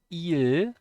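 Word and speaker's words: 이일: should have known so two is e just e and el means day so it's e and eel and of course if you say that together it's ee so it's just a longer e basically and i just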